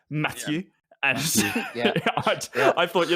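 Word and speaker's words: Mathieu: It's like Matthew, but as you're sneezing, so it's Matthew.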